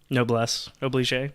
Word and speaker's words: noblesse oblige: Is it noblesse oblige? Or however you Basically. pronounce that? Noblesse oblige, yeah.